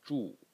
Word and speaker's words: 注: The second character, again pronounced 住, and it means to pour.